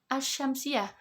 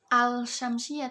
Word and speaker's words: asy-syamsiyah: Kemudian kalau asy-syamsiyah tidak bisa kan dibaca tidak bisa dibaca dengan al-syamsiyah, tapi asy-syamsiyah. Asy-syamsiyah.